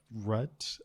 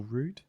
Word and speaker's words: Rudd: From Emily Rudd, I believe that's pronounced, or Rude? Yeah, Rudd, I'd say.